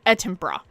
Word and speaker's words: Edinburgh: I realized how to say it. It's Edinburgh. Like bruh. Like bro, like Edinburgh.